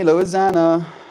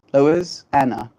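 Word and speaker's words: Loisanna: a lot as well people here call me lisana because of the way Mel pronounces my name yes as Lois Anna Lois Anna technically there's no Z's it's true I'm sorry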